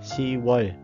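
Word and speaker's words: 시월: Tháng 10 cũng vậy, ship, nhưng mà mình phải đọc là si. Siwol.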